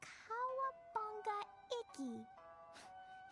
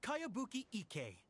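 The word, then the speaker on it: Kayabuki Ikki: It's pronounced Kayabuki Ike.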